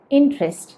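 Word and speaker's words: interest: ഏതർത്ഥത്തിലായാലും ഇത് പറയേണ്ടത് ഇൻട്രസ്റ്റ് എന്നാണ്, ഇൻട്രസ്റ്റ്. അപ്പോൾ എന്താ ശ്രദ്ധിക്കേണ്ടത്? ഇവിടെ INT കഴിഞ്ഞിട്ടൊരു ഇ കാണാമല്ലോ. ആ ഇ സത്യത്തിൽ നമ്മൾ ഉച്ചരിക്കേണ്ട, ഇൻട്രസ്റ്റ് എന്ന് പറയേണ്ട, ഇൻട്രസ്റ്റ്.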